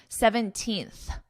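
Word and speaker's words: seventeenth: On January 17th, I want you to notice my pronunciation because even though it isn't written as the little th, you know, when you see the date and it gives you the little th, 17th. Notice what my mouth is doing. My tongue comes between my teeth and I push out.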